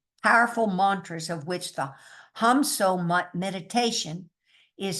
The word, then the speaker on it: Ham: As we do this, we repeat to ourselves, meaning silently, the syllable hum, H-A-M, or hum, H-U-M, on the in-breath, and on the syllable so on the out-breath.